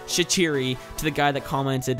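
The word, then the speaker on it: Shaqiri: as shachiri pushes forward that is how it's pronounced shachiri to the guy that commented in my last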